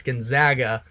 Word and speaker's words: Gonzaga: Gonzaga I got um I got some negativity based off of the way that I pronounce their name it's Gonzaga but they should be in